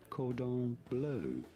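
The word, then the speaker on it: cordon bleu: It is said cordon blue. Oh, cord on blow, please.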